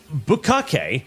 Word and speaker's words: bukkake: So, in case you're wondering, by the way, chat, bukkake should be pronounced bukkake, because it's the Japanese word for basically covering something with splooges, like bukkake.